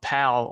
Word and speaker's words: PAL: format of VHS called pal overseas and you know we don't delve into those videos I thought it might be a good excuse to do that and uh pal rhymes with Val and Valentine's Day that's